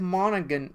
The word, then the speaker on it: Monaghan: So, Dominic Monaghan, the G is silent, Yes.